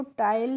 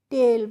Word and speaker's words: tail: TAIL को टाइल नहीं पढ़ेंगे, हम क्या पढ़ेंगे, टेल पढ़ेंगे। HE he loved to ईट,